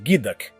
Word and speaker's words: geoduck: O Geod pronuncia-se Gidak.